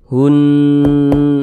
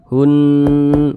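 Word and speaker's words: هُنَّ: Maka cara membacanya digunnahkan. Digunnahkan, jadi suaranya itu kita tahan. Kita panjangkan sejenak. Hun, nah seperti itu. Hun, kita panjangkan 2 harokat.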